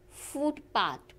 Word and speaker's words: footpath: English compound words are stressed on their first component word. And example is footpath. So in this compounding word, the stress is on the first component word, that is footpath or blackbird.